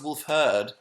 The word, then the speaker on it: Wolfhard: It's pronounced Wolfherd.